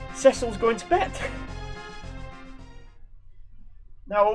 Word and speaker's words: Cecil: which, by the way, that's actually how his name's pronounced. I've heard a lot of people call him Cecil, which is pronunciation I've not really heard before for the name Cecil, but the DS version does actually say that his name is Cecil.